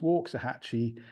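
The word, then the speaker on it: Waxahachie: hatche it's actually pronounced walks a hatchee uh in the Indian way of talking rather than as it's written so that's that's how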